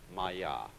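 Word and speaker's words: माया: Pronounced Maya.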